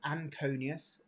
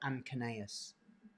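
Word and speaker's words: anconeus: We've got triceps and uh you can pronounce this a couple of different ways. So anonius or anus, however you want to pronounce it.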